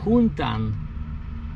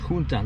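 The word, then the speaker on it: Juntan: And so that one, Yuntan, it was spelled with a J. J-U-N-T-A-N, but it was pronounced Yuntan.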